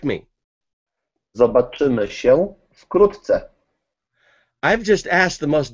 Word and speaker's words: zobaczymy się wkrótce: Zobaczymy się wkrótce. Okay, say it to me so I can say it. How do you say it? Zobaczymy się wkrótce.